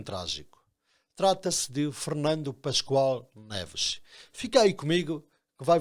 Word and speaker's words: Neves: Filho de Amadeu de Ascensão Neves e Adelaide Alves Pascoal, Fernando Pascoal Neves, e não das Neves, como muitos teimam em pronunciar, teve e tem a alcunha de Pavão.